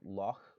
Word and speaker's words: loch: few have it uh it shows up in scottish versions of english uh like with the pronunciation of the word loch for example the germans